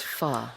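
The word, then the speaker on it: phở: Pho. 네. Some people say pho, but I think you're supposed to say pho. 이제 PHO. 한국에서는 포라고 하죠. 근데 영어식 발음은 pho입니다.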